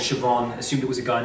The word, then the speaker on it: Siobhan: girlfriend's phone, saw messages from somebody called Siobhan, assumed it was a guy named Sayo Bohan, and confronted her angrily about it.